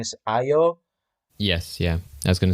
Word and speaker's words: Ayo: So so I do like that part, and the fact that he's very casual with I think her pronunciation is Ayo.